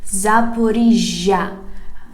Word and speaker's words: Zaporizhzhia: Here we have Запоріжжя, Zaporizhzhia. Pay attention, we write this city with double letter Z. You remember, yes, this confusing letter for you. Z. Zaporizhzhia.